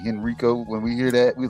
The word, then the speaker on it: Henrico: That's how you say it, Henrico.